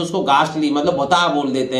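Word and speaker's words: ghost: इसी तरह गोस्ट, ठीक है, अब यहां एच साइलेंट है, जी का हार्ड प्रोनाउंसिएशन हो रहा है, भूत को बोलते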